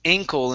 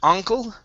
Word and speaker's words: ankle: okay very nice um next is ankle instead of uncle um uncle yeah yeah